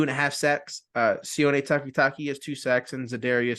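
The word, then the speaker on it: Sione Takitaki: well how do you say his name again c takitaki yeah C takitaki has an interception Maurice Hurst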